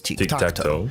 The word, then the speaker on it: Tiktaq'to: noob's guide to tikto this is tikto which is how you would pronounce his name if it was actually Aztec not gor Rock oxy